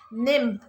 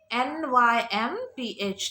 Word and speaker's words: nymph: new word is nim nymph how do you pronounce it nymph n y m p h nymph what is nymph a female spirit that